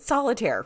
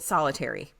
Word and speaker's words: Solitaire: the computer thank you so you pronounce it Solitaire right right definitely called it solitary I said solitary confinement